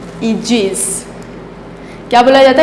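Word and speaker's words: aegis: Please pronounce this word Agassiz, क्या बोलेंगे, Agassiz. Agassiz नहीं, क्या बोला जाता है, ईजिस।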